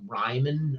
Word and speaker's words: Riemann: Um, and I mispronounced that. Technically, I think it's called it's more like Ryman or something like that, but I say Remon and I don't seem to be able to break the habit.